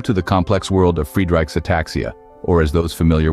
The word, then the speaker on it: Friedreich: Pronounced as Friedreich's ataxia, its name can be quite a mouthful. Some people even prefer the French pronunciation Friedreich's, but for the sake